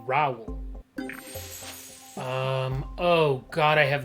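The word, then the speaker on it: Raoul: got your name somehow some guy with the name r-a-o-u-l they turn it into a one-syllable name rao except it's like raul um oh god i have no clue i'm gonna guess 13.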